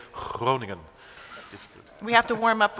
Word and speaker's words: Groningen: Like you don't say Groningen, but you say Groningen.